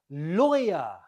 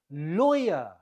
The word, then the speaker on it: lawyer: you say it lawyer lawyer the stress is on the first syllable lawyer number two how do